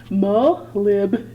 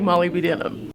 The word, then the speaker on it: molybdenum: because they taught me this way guys but mo lib is that right i still like molly b denim now the real question is not how to